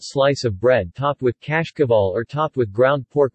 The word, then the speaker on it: Cașcaval: In Romania and Moldova, Cașcaval, Romanian pronunciation, Cașcaval, is used to refer to a number of types of yellow medium and semi-hard cheeses made of sheep's or cow.